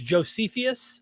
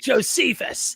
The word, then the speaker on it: Josephus: buddy i always sometimes he'll pronounce things josephius and i'm like josephus but you know i